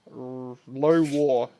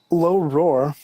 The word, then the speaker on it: Low Roar: Low War. I can't fucking pronounce the R's. You do it, Trix. You're better at it. Hold up. Low Roar.